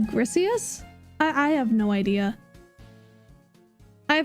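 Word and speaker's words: Griseous Orb: I always pronounced it Grisis orb, but I think that it's like Grisius?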